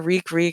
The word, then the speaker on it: Reek: And then he's like, oh yeah, Reek rhymes with leak.